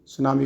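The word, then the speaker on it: tsunami: ठीक है, जापानी लैंग्वेज में क्या है सुनामी को, और इसकी स्पेलिंग अगर देखा जाए तो टी से शुरू होती है।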